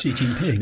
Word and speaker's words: Xi Jinping: had other dictators throughout, and we have it's Xi Jinping, is that how you say it? I'm bad at this. Xi Jinping, yeah.